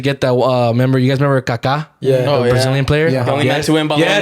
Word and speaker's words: Kaká: For all you people that don't watch soccer, there's a player called Kaká. But it's K-A-K, right? Accent on Different. the A. Accent on the A.